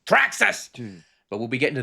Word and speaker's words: Thraxas: be talking to thraxus because it's got an exclamation point and you have to say it properly THX you have to say it properly track us but we'll be getting